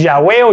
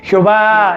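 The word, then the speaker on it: Yahweh: estas letras en hebreo nos da el nombre de dios que es ya veo ya ve qué es lo que más se acerca lo más certero o acertado que se puede pronunciar el nombre jehová es de las peores traducciones porque se le intentó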